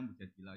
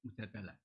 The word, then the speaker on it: Mujadilah: Yang benar itu bacanya mujadilah yang level A. Tapi umumnya orang baca apa? Mujadalah.